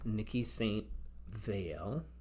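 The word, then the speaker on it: Niki de Saint Phalle: And then this is Nikki St. Veil is how you pronounce it.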